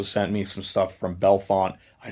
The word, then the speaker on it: Bellefonte: me some stuff from Bellefonte. I said it correctly, Kate? I always say Bellefonte or Belafonte. She's like, it's Bellefonte.